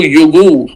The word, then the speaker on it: yogourt: contribué, c'est le mot yogourt. Prononcer yogourt et non yogourt.